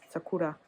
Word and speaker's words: Sakura: I think the accent's on the second syllable, Sakura.